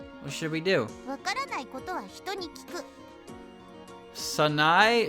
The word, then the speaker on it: Sanae: わからないことは人に聞く Sanae, Sanae. I know, 3 syllables.